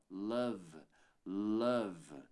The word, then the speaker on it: love: e ele some então você não pronuncia esse e aqui no final e termina a pronúncia no V ó love love aí você pode me